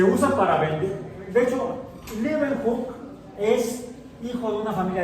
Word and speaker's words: Leeuwenhoek: Se pronuncia bien, Leeuwenhoek. Sería Anton van Leeuwenhoek. Así son los apellidos holandeses.